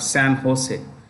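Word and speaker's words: San José: thing so you have San Jose it's pronounced with an H ose Fair so we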